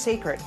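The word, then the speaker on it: Cécred: It's spelled C-E-C-R-E-D, but pronounced Sacred.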